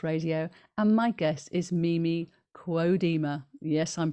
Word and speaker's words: Mimi Kuo-Deemer: You're here on Chi Time with me, on UK Health Radio, and my guest is Mimi Kuo-Deemer. Yes, I'm pronouncing her name correctly now.